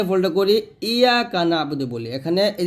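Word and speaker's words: إِيَّاكَ نَعْبُدُ: এই যে আইন উচ্চারণটা আমরা করতে পারি না, এটা করতে হবে সুন্দর করে, ইয়াকা না'বুদু, ইয়াকা না'বুদু।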